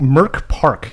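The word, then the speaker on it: Mörk Borg: Okay, uh so characters in this uh M Merc Merk Park is how it's pronounced because uh the merc is Swedish, the rest of it is is is park.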